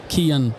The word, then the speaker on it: Cian: Yeah, so Kian, it's an Irish name. And in Irish, in our language, the C is a hard C.